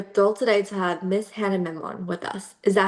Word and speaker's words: Hana Memon: My name is Kara Sia, and we are thrilled today to have Miss Hannah Memon with us. Is that how you pronounce her name before we Yeah, start?